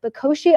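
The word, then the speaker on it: Bokoshe: So this is a late night situation, of course, but Bakoshi, I believe, is pronounced, Dan, and you can correct me if I'm wrong. You got it.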